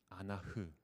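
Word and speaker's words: אנח: 이 다림줄이라는 이 히브리어 단어를 보면 아나크라고 합니다. 그런데 신음하다, 슬피 울다라는 이 히브리어 단어를 보면 아나흐라고 합니다. 그러니까 이 두 단어의 발음이 굉장히 비슷하죠.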